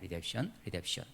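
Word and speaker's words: redemption: 리뎁션. 발음이 좀 어려운 거예요. MP가 같이 붙어와가지고. 예, 리뎁션이에요.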